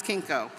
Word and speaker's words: Kinko: her American friends who found it too difficult to pronounce Kinko except until Kinko remember the press the the copy center suddenly everybody could pronounce Kinko but she was Kate